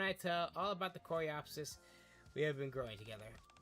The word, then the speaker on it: Coreopsis: Yeah, it's gonna make a home for the Coropus. Coropus. Coropus? Yeah, is it Coropus? Oh my god. Hold on. I'm gonna find out how to frick to pronounce this plant. Coreopsis. Coreopsis. Coreopsis plant.